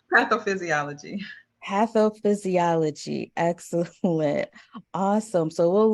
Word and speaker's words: pathophysiology: Now, what was that word that I just mispronounced? Pathophysiology.